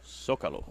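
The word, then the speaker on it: Zócalo: Zocalo.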